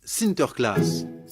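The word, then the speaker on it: Sinterklaas: des cadeaux aux enfants aux pays bas saint nicolas se prononcent sinter klaas et lorsque les néerlandais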